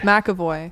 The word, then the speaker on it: McAvoy: Is that how you pronounce it? James McAvoy. McAvoy.